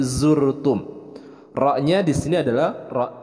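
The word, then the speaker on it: زرتم: Kemudian zur, huruf za itu jangan tertukar dengan pelafalan huruf ja, bukan jurtum tapi zurtum.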